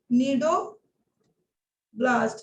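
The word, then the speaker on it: cnidoblast: चलो इसको बोलते हैं बेटा नीडो ब्लास्ट, यहाँ पर भी सी साइलेंट हो जाएगा, ठीक है।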